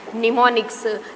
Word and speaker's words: mnemonics: MNEMONICS, here M is silent, निमोनिक्स।